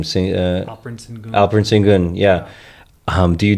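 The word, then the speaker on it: Alperen Şengün: Alperen Sengun. Alperen Sengun. Yeah. Do you do that trade? Alperen Sengun for Giannis. Yes. Some people are arguing against it because they're saying Alperen Sengun is like a Joker light.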